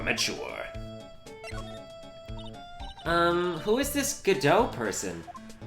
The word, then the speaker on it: Godot: the x-men Cyclops mask huh his name is Godot Godot yes I know how to pronounce Godot thank you people who had no faith in